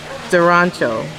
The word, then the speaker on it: Arancio: It's a ch. So say it again. Durancho.